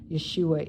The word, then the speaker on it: Yeshua: some of them say Yeshua, our Messiah, the light of the world. Yeshua is how you say Jesus's name in Hebrew.